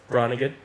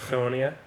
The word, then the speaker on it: Groningen: So I studied 2 hours north of Amsterdam in a place called Groningen, but they pronounce it Groningen.